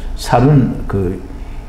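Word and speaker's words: סַל: 살이라고 발음을 하는데요. 살은 60 사맥인가요?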